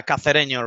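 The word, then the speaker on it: Cacereño: Is it Cacareño or is it, am I even pronouncing that correctly? Yeah, Cacareño, really.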